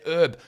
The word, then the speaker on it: herb: you're going to say herb. You only say the H if it's someone's name.